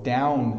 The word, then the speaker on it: down: just stays open and done done and then down my mouth makes a noise now done you end with your tongue at the top of your mouth so it done and